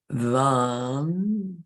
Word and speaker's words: Vam: Vam, you really pronounce the first letter.